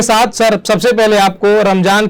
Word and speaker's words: रमजान: रमजान और रमदान में कोई फर्क नहीं है, कोई जेड से लिखता है, कोई जे से लिखता है। लिहाजा रमजान और रमदान एक ही है। और सही मान में इसका जो प्रोनाउंसिएशन है अरबी में वो रमजान है। जाहिर बात तो इंग्लिश में हिंदी में बन नहीं सकता।